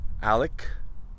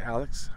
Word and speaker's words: Alex: the husband and father, Alec. Some say Alex. I've heard Alec, even though it's spelled Alex. Murdaugh.